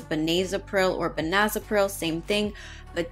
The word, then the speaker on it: benazepril: Now, when I looked this up in the Davis Drug Guide, technically the pronunciation is benazepril, but tomato, tomato, right?